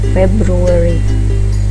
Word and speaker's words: February: Nah, lalu Februari dibacanya February. Jadi A-nya jadi E, February.